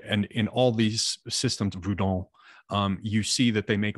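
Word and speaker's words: Vodou: It is not voodoo. Voudon. Yes, that is the correct pronunciation.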